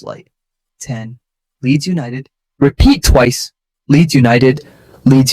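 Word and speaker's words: Leeds United: Keep other syllables light. 10. Leads United.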